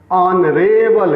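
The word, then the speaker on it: honourable: फिर देखिए ऑनरेबल guest, ऑनरेबल, ऑनरेबल, स्पष्ट सुनाई दे रहा है पहला अक्षर।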